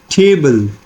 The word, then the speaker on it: table: Now look at the example: table, table. Now the focus is on t, this sound, and bull. So this is what we call as the combination of stress plus unstressed syllable, and this is like trochaic.